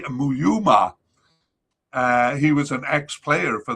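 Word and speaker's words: Mouyouma: Gabon wanted to replace Nouveau with a domestic figure, and they chose Thierry Muyama. Sorry, I got that all wrong. I butchered his name there. Thierry Muyuma.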